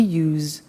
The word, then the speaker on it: used: don't have now we use used to look at the spelling s it's it's u s e d and then t o but the pronunciation is not used it's us unusual us okay so the